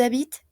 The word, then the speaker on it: habitent: Y en todos ellos no se pronuncia la ENT al final. ¿Ya? Entonces, ils habitent, elles habitent.